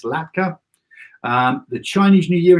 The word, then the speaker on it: latkes: a latke or latkes you know it's pronounced l-a-t-k-e-s latka um the chinese new